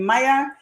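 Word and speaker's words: Mayr: archive to look someone with the last name Maya m-a-y-r is spelled and and um because it was spelled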